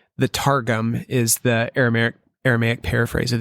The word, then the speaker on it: Targum: So I actually, Targum. Nice. Like a mixture of tar and gum.